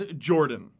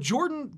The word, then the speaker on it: Jorphdan: to talk about is Jorphdan. The PH is silent. This guy seriously makes me sick. Like, he really makes me sick. His content is just so ridiculously good. I have no doubt that Jorphdan is going to blow